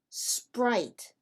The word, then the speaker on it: Sprite: Ahora, el problema es que no se dice Sprite in English. We say Sprite. So we are going to